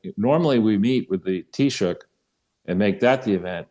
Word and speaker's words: Taoiseach: On Ireland, customarily, the president appears in public with the Taoiseach, is I think the way it's pronounced, Prime Minister of Ireland, on March 17th, which is not yet.